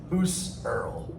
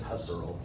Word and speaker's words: Husserl: with the name husserl who's cyril i think is how you're supposed to say who's earl but everybody says husserl um but you're right